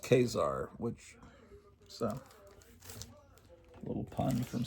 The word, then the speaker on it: Khazar: So Khar, which is supposed to be pronounced Khazar, which a little pun from Stan Lee that name.